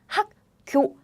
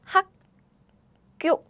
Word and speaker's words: 학교: So if you learn this alphabet, you probably pronounce like this. 학교, 학교. However, Korean people don't pronounce that way. What happens is, there is a air blocking sound. So what happens is, naturally, these sounds get doubled.